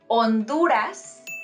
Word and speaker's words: Honduras: right Havana it's Havana because remember that letter H is silent okay so we say Honduras not Honduras also we say not